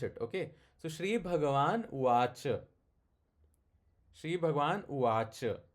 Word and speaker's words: uvāca: That would become something like uvāc. But that a you have to little bit pronounce it. Okay. So śrī-bhagavān uvāca.